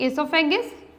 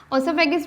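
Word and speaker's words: oesophagus: Second one is pharynx, third one इज इसोफेगस, इसको दोनों तरह से ही प्रोनाउंस कर सकते हैं, ओसोफेगस भी कह सकते हैं आप, इसोफेगस भी कह सकते हैं, दैट डजंट मैटर।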